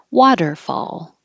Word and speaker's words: waterfall: Waterfall. The T changes to a D and the stress is on the first syllable, waterfall. Very similar to wonderful.